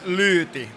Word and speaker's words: Luti: So actually you pronounce it as Luti, but it's difficult.